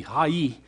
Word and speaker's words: Ai: went against that little town of hi or hey I as we were to pronounce it AI would be high e in Hebrew when we went against